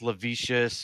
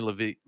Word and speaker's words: Levees: Say Yeah, a lot of So guys Levy- think it's Levicious or some other random thing. but Bootylicious. Yeah, exactly. Why'd you have to But go it's definitely Levy.